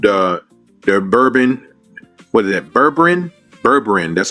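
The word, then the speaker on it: Berberine: Berberin. That's how you pronounce it. Berberin, the L-carnitine, what is the other one?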